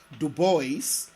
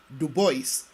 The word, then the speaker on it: Du Bois: Legend William Edward burgert Du Bois more popularly known as W.E.B Du Bois and yes Du Bois not DuBois and being faithful to the way he pronounced his name W.E.B Du Bois was